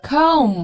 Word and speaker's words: comb: 贝贝，comb，哎，对，水管工，plumber，